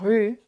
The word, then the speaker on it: rue: And that is to help you understand that in French, not all letters written are pronounced. And so la rue, the road, you don't pronounce the E.